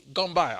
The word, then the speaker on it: Gamboa: And I want to introduce you to Gamboa. Did I pronounce it right? Gamboa.